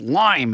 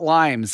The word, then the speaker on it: Lyme: This is like Lyme disease. It's lime. It's not limes.